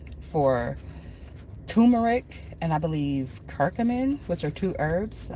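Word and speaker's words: curcumin: I seen a uh advertisement for turmeric and I believe kirkamin, which are two herbs.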